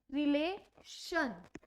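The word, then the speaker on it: relation: TION को शन pronounce किया जाता है। लाइक एग्जाम्पल, मुझे बोलना है रिलेशन, रिलेशन में TION है, तो इस TION को हम क्या प्रोनाउंस करते हैं? शन, रिलेशन।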